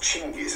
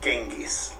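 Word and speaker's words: Chinggis: great car himself chingis his name was actually pronounced chingis and not genis like we taught in schools in the west this is him wow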